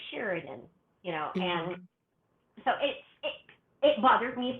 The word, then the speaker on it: Cheridan: So it's just an instantaneous when, if somebody says it incorrectly, I will just smile and say, oh, it's actually Sheridan, and so it bothered me for many years, but I think as I've gotten older, I'm like, it's all right.